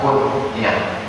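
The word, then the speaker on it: kun-yah: Abu Darda itu bukan nama, tapi dikenal dengan istilah Arab kunyah. K-U-N garis sambung nyah, kunyah. Mesti garis sambung. Kalau tak garis sambung nanti orang yang tak paham dibacanya kunyah. Kunyah.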